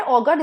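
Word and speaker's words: auger: the best one okay next is ऑगर एंड ऑगर same pronunciation difference spelling एक में ई आर है दूसरे में यू आर है ठीक है तो जो इसमें ई आर है ऑगर इसका मतलब है ड्रिल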